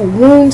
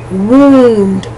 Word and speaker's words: wound: To hurt someone or to wound someone, that O-U is pronounced oo, wound.